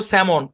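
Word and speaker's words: salmon: তারপর স্যামন এল সাইলেন্ট।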